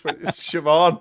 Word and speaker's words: Siobhan: It's Siobhan. Oh, no, fucking hell. Fucking not. Have you seen how they spell it?